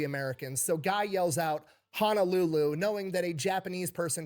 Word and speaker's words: Honolulu: And Lulu CEO pronounce it Hanaruru. Nice. For those of you who don't know, there is not a dedicated L sound in Japanese, by the way. They use the R sound.